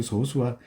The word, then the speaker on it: 소수: 친구들을 우리는 뭐라고 하냐 소수라 그래요 소수 우리가 우리가 아는 0.1 0.01 같은 소수 있죠 그 소수와 쓰는 글은 똑같은데 발음 할 때 읽을 때요 요수는 소수 좀 짧게 끊어서 소수라고 읽어요 예전에 선생님이 어 어릴